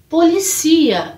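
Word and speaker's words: policía: E a pronúncia também, porque mudamos o local da sílaba tônica. Então, polícia, em português, policia em espanhol. Polícia, policia.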